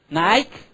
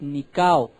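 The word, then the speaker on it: νικάω: Nike, mal dicho, mal pronunciado, es Nikao.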